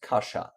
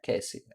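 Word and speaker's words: Kasia: any lives my name my name is Polish LOL pronounced Kasha aha it's Kasha not Casey okay Kasha and do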